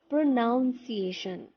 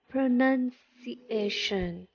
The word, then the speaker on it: pronunciation: Many people, when they pronounce the last word, they say pronunciation. But if you look closely in the bigger word, there is NUN, none, not noun. And thus we write and say pronunciation.